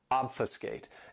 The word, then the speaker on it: obfuscate: This verb has 3 syllables and the stress is on that first syllable, obfuscate.